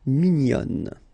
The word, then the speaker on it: mignonne: Okay, same thing here, nasal, mignon, and then when you put the feminine form, mignonne.